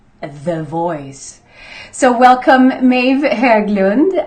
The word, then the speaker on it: Höglund: So welcome, Maeve Höglund. I say Höglund because you have a very, very Swedish last name.